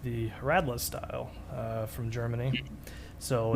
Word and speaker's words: Radler: Oh yeah, you were telling me about the Radler. He says Radler. You say it the German way. Oh yeah. You've Americanized. We've Americanized it. Call it Radler. Radler. That's how it's spelled. Yeah. R-A-D-L-E-R.